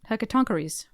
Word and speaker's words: Hecatoncheires: How do you think it's pronounced? Hecatoncheires? Close. Hecatoncheires. How did you get that? I looked on the internet. It's an ancient Greek Checks out.